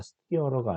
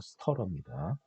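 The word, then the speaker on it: stirrer: 가열기는 이 스터러, 이거 발음이 스터러라고 읽으셔야 됩니다. 스티어러가 아니라 스터러입니다.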